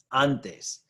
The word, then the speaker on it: antes: Antes. Antes. Stress is on that first syllable, the second to last syllable.